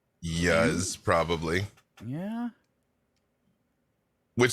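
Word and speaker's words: Iuz: like what's a yes it's pronounced i you z so i i would say yes probably yeah which sounds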